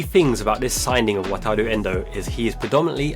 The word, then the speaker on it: Wataru: journalists struggling to say his name is not wataru Endo uh it's Japanese is a weird combination between Lou and Rue wataru our very own